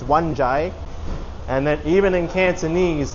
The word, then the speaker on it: Wan Chai: Like it's not Wan Chai, it's Wan Chai.